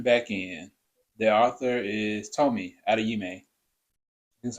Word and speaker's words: Tomi Adeyemi: But jumping back in, the author is Tomi Adeyemi. That's how you Mhm.